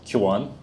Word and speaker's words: Qwen: Um so first of all I pronounce it as Qan.